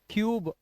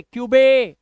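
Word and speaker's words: cube: अब ये मतलब ट्यूबे, क्यूबे, ड्यूडे और न्यूडे, रूडे। मैंने आपको बोला कि रूडे नहीं करना है, क्यूबे नहीं करना है, क्योंकि लास्ट का जो ई होता है वो साइलेंट होता है।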